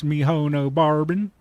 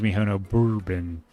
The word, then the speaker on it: Mihono Bourbon: Now you have a good Miss Mihono Barbin. My name is Mihono Bourbon. It is spelled M I H O N O B O U R B O N.